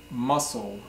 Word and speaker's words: muscle: for today is called muscle muscle mus CL e is not muscle but muscle so muscle is is